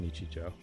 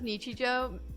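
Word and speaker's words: 日常: This is pronounced Nichijou. It's pronounced Nichijou. Pronouncing it as Nichijou sounds like you're doing 2 number counts and then saying the word Joe.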